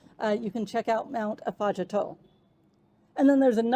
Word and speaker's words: Afadjato: Not far from Wheelie Falls is Ghana's tallest mountain, Mount Afajato. I'm working on that one. It might be Afajato. I know it's not Afajado. That's wrong. So I'm going to say Afajato, I hope.